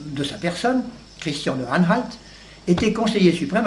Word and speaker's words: Anhalt: Anhalt, ça s'écrit A-N-H-A-L-T.